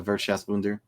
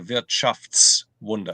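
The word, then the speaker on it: Wirtschaftswunder: about by by the veras wer no the economic Miracle is not bad your pronunciation you're just missing you're just missing one s it's the V shafts Wonder it's shafts Wonder sorry yeah it's all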